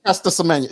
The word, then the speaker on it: Caster Semenya: If you can say Michaela Ian, you can say Caster Semenya.